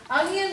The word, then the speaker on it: onion: Onion is a really tricky one because you're hearing like a Y in there for the onion, so just be aware of how it is spelled.